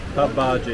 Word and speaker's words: pav bhaji: say I'm pretty damn happy with my papaji papaji yeah that's how they say it the only